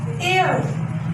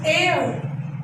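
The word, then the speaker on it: heir: Dash u, EWEU, dash MLA, and dash air, H is silent, air, and.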